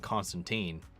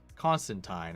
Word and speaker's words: Constantine: the way I've been saying it, it's been Constantine. There's been such a flip on it. But apparently the proper pronunciation is Constantine.